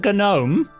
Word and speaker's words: gnome: to be called a gnome why because the g is silent but nothing should be